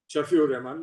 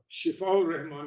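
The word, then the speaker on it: Shifa-ur-Rehman: Shafiur Rahman. Well, let's say this is Shifaur Rahman is exactly how it's pronounced.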